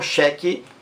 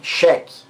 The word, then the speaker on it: xeque: xeque-mate com X então Xeque com x e cheque com ch palavras existem veja bem cheque a pronúncia é a mesma gente o tanto faz com ch ou com x xeque Xeque a pronúncia